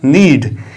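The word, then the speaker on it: need: पहले क्या आया है की जब एन से पहले के आए तो के को नहीं पढ़ा जाता है के क्या होता है साइलेंट होता है और इस वर्ड की शुरुआत हम एन से करते हैं इसको पढ़ते हैं हम नीड इसको कन्नड़ नहीं पढ़ते हैं क्योंकि एन से पहले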